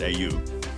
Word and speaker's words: Oia: Oia Village, pronounced AU, has some of the most beautiful views and accommodation in Santorini, with historic churches, colorful flowers, and epic ocean views.